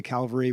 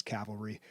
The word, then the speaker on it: cavalry: But yeah, people always say Calvary when what they should be saying is cavalry.